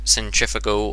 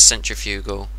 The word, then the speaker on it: centrifugal: yes it is centrifugal it's not centrifugal or however the Americans say it's centrifugal trust me I'm English but fin going to